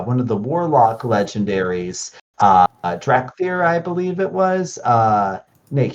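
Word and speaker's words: Dar'Khan Drathir: So I can find it first, but I just can't remember the pronunciation. Found it. Darkan Drathir.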